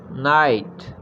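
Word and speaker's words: knight: हैं मसरूफ़ होना, बुनना, नाइट, के को यहाँ साइलेंट रखेंगे, नाइट, दस्तक देना, नॉक,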